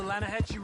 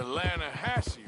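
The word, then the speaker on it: Lannahechee: The other day, I rode down to the Lanahatchee River. I caught some beautiful steelhead trout. You mean the Lanahassee River? No. The Lanahatchee. It runs right near here. Yeah, but it's pronounced Lanahassee.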